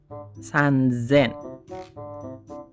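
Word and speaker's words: さんぜん: Kalau ketemu 3 berarti san dulu. Nah, sennya berubah jadi z. San zen. Ini san zen.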